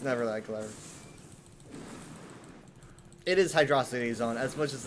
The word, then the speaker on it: Hydrocity: think Megamind is referencing Hydro City Zone. The joke is that he's an alien that doesn't know how to pronounce. Did you just call it Hydro City Zone? It's Hydrocity. It is Hydrocity.